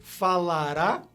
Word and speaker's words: falará: Então, você simplesmente adiciona a com um acento agudo para indicar o estresse, para indicar que a sílaba tônica agora é essa, a última.